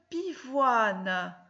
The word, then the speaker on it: pivoine: Alors, dans pivoine, il y a 3 syllabes. Pi, voix, ne. On voit bien que le N, il ne va plus avec O et I pour faire ouin, mais il est séparé dans la dernière syllabe. Il va avec le N, avec le E. Pivoine. Donc, dans pivoine, on voit bien O-I-N qui se suivent, mais on n'entend pas ouin.